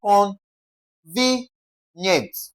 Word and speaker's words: convenient: Words ending with ient, how do you stress them? You simply stress the what now? The second to the last syllable, okay? We're having con ve nient.